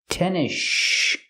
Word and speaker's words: tennis shoes: We don't say tennis shoes. The S is silent, and you link to the next sound, the sh sound in shoes. So you hear tennis shoes.